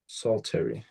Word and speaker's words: psaltery: It's actually a medieval instrument named psaltery. Saltery. Yeah, it's spelled Psaltery, and it can be bowed or it can be struck with mallets, and this is the struck version.